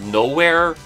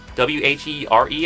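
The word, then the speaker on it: Knowhere: One planet that I do vaguely remember was this one planet called Nowhere, but it's spelled with a K instead of the N, so it's like Knowwhere, I think.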